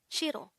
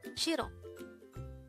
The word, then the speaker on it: 싫어: Shiro. Shiro. This is pronounced as a two-syllable word. The first syllable is shir. The second syllable is o.